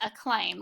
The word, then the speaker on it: acclaim: by 800 or you the first C is silent and the second says let's look at this word acclaim let's prove this word